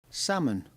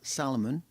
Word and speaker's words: salmon: like a salmon sandwich salmon not Salomon it's a silent L I hate garden gnomes